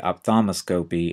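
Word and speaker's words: ophthalmoscopy: say op tholos scopy but we'll just say opos scopy and you really can't hear that l in there so opos scopy visual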